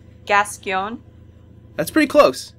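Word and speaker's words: Gascoigne: boss uh father oh man how did you pronounce his name gason that's pretty close it's gascon okay or get or I think there's two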